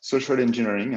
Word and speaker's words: social engineering: Voilà, social engineering, hein, ça se prononce comme ça pour ceux qui ne parlent pas très bien anglais.